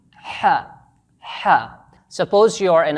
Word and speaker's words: ح: Try saying these English words with me, but remember to use the middle of your throat and produce a firm and thick H sound.